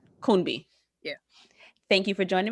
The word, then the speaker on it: Kunbi: Am I pronouncing your name correctly? Kunbi or Kunbi? Kunbi. Kunbi.